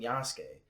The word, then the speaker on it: Yasuke: It's pronounced fucking Yasuke.